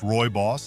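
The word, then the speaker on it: rooibos: Roy Boss, pronounced Roy Boss, is naturally caffeine-free and low in tannins.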